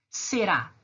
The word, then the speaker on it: será: Será. Olhem lá, a palavra será. Eu falo será ou eu falo será? Eu falo será, certo? Esse ra no final é a sílaba mais forte.